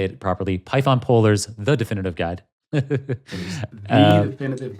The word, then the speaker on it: Polars: Python Polers the definitive guide.